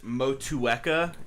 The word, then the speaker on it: Motueka: which we won't just yet okay um it's motueka is how you pronounce it and i believe it's a a